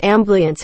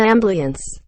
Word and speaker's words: ambiance: mute point it was not i always said ambliance as a kid and always pissed my family off whoa it's an ambiance quote cash is pronounced cash just because it